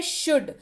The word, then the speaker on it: should: अगला शब्द है शुड, SHOULD, शुड। पढ़ते वक्त एल साइलेंट, पढ़ेंगे इसको शुड।